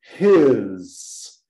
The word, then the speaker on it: his: Então, temos o his. His. Não esquecer de pronunciar o H.